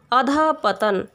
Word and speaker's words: अधःपतन: विसर्ग का उच्चारण शब्द के अंत में तथा उपसर्ग के अंत में ह होता है, जैसे प्रायः, विशेषतः, अधःपतन। जबकि शब्द के मध्य में इसका उच्चारण नहीं होता, जैसे दुख। शब्द के मध्य में विसर्ग है, लेकिन ह का उच्चारण नहीं होता है। लेकिन अधःपतन, यहाँ पर ह बीच में आता है, ये ह का उच्चारण होता है।